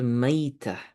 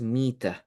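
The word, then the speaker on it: ميتة: Okay, in the Quran, this is called maita, but normally in Arabic in fiqh, for some reason they pronounce it differently, and the word is mita.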